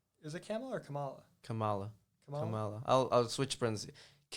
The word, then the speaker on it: Kamala: Camelo running uh I guess that's how you pronounce her name Kamal Kamala is it camel or Kamala Kamala I'll I'll switch friends K Harris K